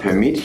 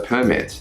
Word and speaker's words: permit: as you do it in the noun form you stress the first part of the word where it's in the verb form you stress the second part of the verb we can't permit you to Campea or